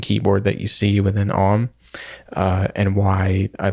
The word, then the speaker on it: AUM: uh I'm running a program called om it's spelled AUM I'll link to that